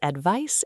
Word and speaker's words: advice: Our eighth pair is advice and advise. They look similar, but their pronunciation is different. Advice with a final soft s sound is a noun.